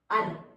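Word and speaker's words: ಋ: So one of the meaning is number 9 and one of the meaning is, how do you pronounce this? Ar. Yes, it's a ar sounding.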